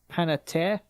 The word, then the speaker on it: Panettiere: The I rest can of never them pronounce are her just last kind name. of. Yeah, I'm looking at it. It's Panettiere.